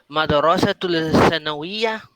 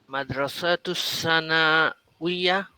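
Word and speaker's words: مدرسة الثانوية: আনতুম feel মাদ্রাসাতুল সানাওয়িয়া। মাদ্রাসাতু সানাউইয়া, লাম উচ্চারণ হবে না। তা গিয়ে সরাসরি সাকে গিয়ে কি করবে, টাচ করবে। মাদ্রাসাতু সানাউইয়া। হ্যাঁ মাদ্রাসাতুস সানাওয়িয়া।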